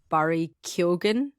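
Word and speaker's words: Barry Keoghan: moment right now uh Barry kill is how he pronounces his name I have no clue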